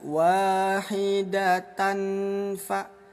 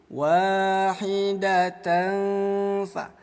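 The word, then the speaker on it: وَاحِدَةً فَ: Nah, cara bacanya, bunyi tanwin kita samarkan. Jangan sampai dibaca wahidatan fa, tapi wahidatan fa, tanfa, ya, disamarkan selama 2 ketukan.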